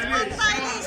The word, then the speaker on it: পান্তা ইলিশ: Yes, Pantalish. yes. Come on, yeah, Pantalish. Yes, Panta Ilish, Panta Ilish.